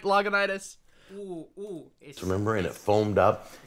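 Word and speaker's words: Lagunitas: ] on me for intentionally pro pronouncing it logonitis because he said leguintas yeah liguintus look look everyone else is doing trying to say it like you said it i was right loganitis remember and it foamed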